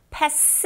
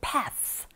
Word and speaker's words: path: 여기서 주의할 것은 네, 여러분, path 하실 때 TH 사운드 입모양 잡아주시면 돼요. path, pass 아니고 path.